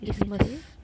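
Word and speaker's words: isthmus: होता है ये, तो इसमस। तो इसमस टी एच साइलेंट हो गया।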